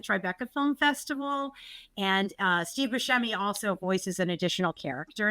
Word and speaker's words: Buscemi: And it's Buscemi.